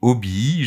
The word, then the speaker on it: hobby: des hobby des passions alors oui on dit obby je sais ça va faire sourire mais c'est comme ça que les Français disent ils ont francisé la prononciation et après vous pouvez